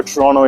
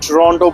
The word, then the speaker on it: Toronto: से ज्यादा population GTA की है जिसको ग्रेटर ट्रोनो एरिया बोलते हैं। आल्सो मेक श्योर कि अमेरिकनंस टोरनटो बोलते हैं लेकिन कनेडियंस टोरनो बोलते हैं टी is silent the second T is silent.